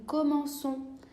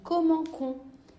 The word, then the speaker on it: commençons: J'utilise un C cédille pour la première personne du pluriel, comme par exemple nous commençons. C'est pour une question phonétique, sinon je devrais prononcer nous commençons.